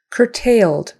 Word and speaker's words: curtailed: control procedures curtailed curtailed Cur so that c is a hard C like a k u r is like an ER Cur tailed tailed curtailed notice notice syllable stresses on the first syllable and you'll notice you'll notice that the second syllable is like tis tis with a short I even though there's an